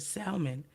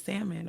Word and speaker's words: salmon: was cooking fish or whatever and I said salmon like not the correct way so I said excuse me so she's like you don't say it like that it's salmon or whatever and I'm like I don't care